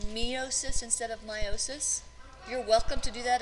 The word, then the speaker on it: meiosis: and meiosis before you may have heard it pronounced meiosis instead of meiosis you're welcome to do that if it helps